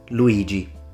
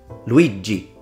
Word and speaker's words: Luigi: me tell you this depending on how strong you pronounce the G in Luigi you could say it with a northern Italian accent or with a Southern Italian accent if you want to